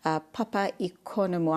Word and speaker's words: Papaikonomou: and she is Papaikonomou. I hope I'm pronouncing that correctly. good morning. Welcome to the program. Good morning, Julie. Thank you. Did I say your name right? Yes, yes, absolutely. Thank you.